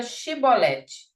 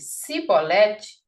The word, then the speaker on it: chibolete: Se respondesse que não, diziam: "Então diga chibolete". Se ele dissesse cibolete, sem conseguir pronunciar corretamente a palavra, prendia-no e matava-no de passagem do Jordão.